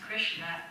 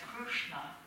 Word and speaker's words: Krishna: called Puri, Jagannath Puri, where they pronounce Krishna as Krushna.